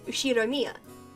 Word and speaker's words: Ushiromiya: The first part is my family name, Ushiromiya. That's a fairly plausible Japanese pronunciation so far.